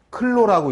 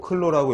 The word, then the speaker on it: clo: 방한력의 단위, 보온력의 단위, 열 차단 단위, 클로라고 읽으시면 돼요. 클로, CLO, 클로라고 읽으시면 되고, 중요한 게 뭐냐면 거기에